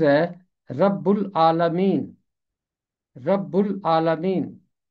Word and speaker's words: رب العالمین: इसका तलफ़ुज़ है रब्बुल आलमीन।